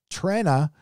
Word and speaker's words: Trenna: Trenna is pronounced Tren, like Tren Guthridge, for $5.